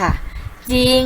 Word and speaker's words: จริง: คำ เดียว เท่า นั้น คือ คำ ว่า จริง ค่ะ ยิง ก็ อ่าน ว่า จริง นะ คะ จำ ให้